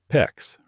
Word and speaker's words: PEX: PEX rhymes with flex.